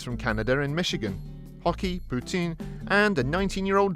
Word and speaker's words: poutine: flavor maple mousse meat poutine ah the old canadian salad sure is something tasty to poutine your mouth for anyone who is unaware the french canadian pronunciation close to putin makes this joke work